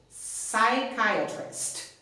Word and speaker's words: psychiatrist: important thing is that we do not pronounce the letter P psychologist psychiatrist okay a shrink a